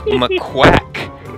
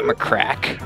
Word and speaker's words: McQuack: It's McQuack, not McCrack.